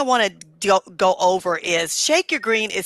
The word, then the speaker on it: ShakeURGreen: Yes, the first thing I want to go over is Shake Your Green is spelled funny because people say that's not how you spell your.